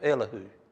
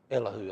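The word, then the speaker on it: Elihu: The next person that we'll see comment will be a man by the name of Elahoo. Elahoo I believe is the way you pronounce it. E L I Hu.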